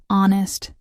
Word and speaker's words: honest: And don't forget about the silent H in words like honest, our air.